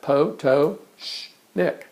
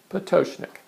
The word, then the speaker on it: Pototschnik: big toe and sh and Nick, and put all that together, you have Pototschnik, Pototschnik. So I hope that takes